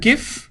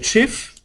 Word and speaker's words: GIF: we started talking about gif or officially it's supposed to be pronounced chief look okay so how